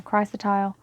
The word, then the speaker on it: chrysotile: much well Crystalis or kris chrysotile this is the sorry i said it wrong chrysotile this is the the